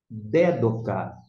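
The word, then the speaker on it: δέδωκα: primeira palavra nós temos dédocar Dé do significa dar ou de votar esse dedo cá nós colocamos aqui e quero queremos chamar atenção Para esse assento esse acento indica a sílaba tônica você vai ter que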